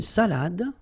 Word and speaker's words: salade: Then, une salade. Un dessert. Un café. All right, so, une salade. Same thing here. Final you don't insist on it. It only gives you the pronunciation of the previous letter.